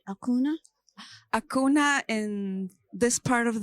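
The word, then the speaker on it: Acuña: I pronounce this right Akuna Akuna in this part of the world Akuna Akuna mhm yes uh so in South America right in South America that's how they pronounce it yes because when Adriana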